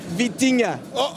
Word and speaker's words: Vitinha: It's Vitinha.